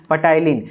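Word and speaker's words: ptyalin: उसका एक नाम है पटेलिन तो इसको patailin ने padhiyega पीस साइलेंट होता है तो टिलीन जो एंजाइम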